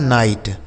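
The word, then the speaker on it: night: आगे देखिए अगला शब्द एन आई जी एस टी और के एन आई जी एस टी एन आई जी एस टी इसको पढ़ा जाता है नाइट।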